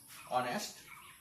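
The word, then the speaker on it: honest: hour আর হব এ অনেস্ট অনেস্ট ম্যান এজ ভদ্র লোক অনেস্ট ম্যান এই যদিও এই সাইলেন্ট হয়েছে বা এর উচ্চারণ ধরে হইছে এই কারণে একজন ভদ্রলোক বলি বলে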